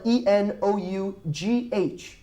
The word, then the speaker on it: enough: we tend it enough we spell it en ough but listen to my pronunciation enough okay good now como